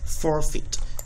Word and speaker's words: forfeit: So you can see that the letters E and I, when put together, made a long E sound.